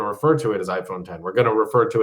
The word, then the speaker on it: iPhone X: Apple made everything so complicated and hard to understand that they're like, no, it's actually 10, but you only know that if you watch the commercials or the keynote.